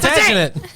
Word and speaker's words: Plantagenet: If you spell it out loud, okay. I can't get it. I got it. Plantagenet. Plantagenet. Yes, Plantagenet.